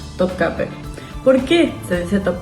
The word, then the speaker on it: Topkapı: En el caso de Topcape, es una palabra que se escribe en turco con esta i sin puntito.